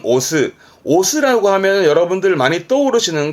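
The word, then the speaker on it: 推す: 루이스 이까지 자주 보여질 부분이 있습니다 동사로 쓰면 발음은 오스 스라고 하면 여러분들 많이 떠오르시는 건 요거 요거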